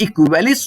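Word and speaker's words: aequalis: यहाँ पे ए जो होता है वो साइलेंट होता है, तो आप इसको बोलोगे कि भैया जो इक्वल वर्ड है ये इक्वेलिस वर्ड से आया हुआ है। इक्वेलिस, याद रखिएगा, इक्वेलिस।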